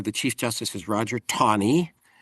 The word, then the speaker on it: Taney: Court and there the Chief Justice is Roger Tony. It's a peculiar pronunciation. It sounds like TA ne Teny, but it's pronounced Roger Tonyie.